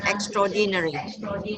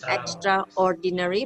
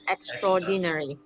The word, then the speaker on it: extraordinary: extraordinary train extraordinary okay the pronunciation is extraordinary not extraordinary but extraordinary they always call it